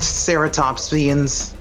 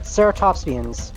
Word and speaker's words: Ceratopsians: It's pronounced Ceratopsians. Right, Ceratopsians, while the more slender, quick Gorgosaurus might have run down Hadrosaurs.